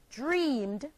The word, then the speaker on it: dreamed: The next example, the verb dream, dream, becomes the past tense verb dreamed, and is pronounced dreamed, having only one syllable.